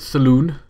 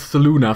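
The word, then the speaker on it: Selûne: You would think that's how you pronounce it, Saloon. It's S-E-L-U-N-E. Saluni? They pronounce it as Saluna for some reason.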